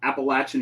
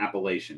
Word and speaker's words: Appalachian: gosh the Appalachian Mountains is that how it's pronounced Appalachian Mountains not appellation right at the moment